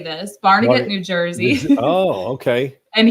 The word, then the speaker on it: Barnegat: he just taught me how to say this barnegat new jersey oh okay and he said he's